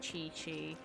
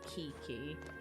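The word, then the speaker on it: Qiqi: you want better healers there's chi chi i think that's how so i'm pretty sure that's how that name is pronounced so i don't want to be wrong i know it's not pronounced kiki sweet mine and the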